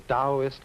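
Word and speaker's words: Taoist: Now, Chinese thinking of which there are really two main currents, the Dowist current and the Confucian. Dowist that's spelled T AO I S T and Confucian.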